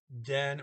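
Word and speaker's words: det: have the word the which is either going to be den or or de spelt d-e-t but a silent t the two does in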